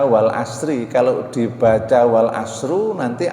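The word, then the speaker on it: والعصر: dengan atas ciptaannya misalnya maka bacanya tidak boleh Wal asru l harus dibaca Wal Asri kalau dibaca Wal Asrul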